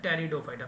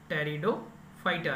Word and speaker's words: Pteridophyta: तीसरा जो आता है टेरिडोफाइटा, पी साइलेंट रहेगा, टेरिडोफाइटा रहेगा, टेरिडोफाइटा रहेगा।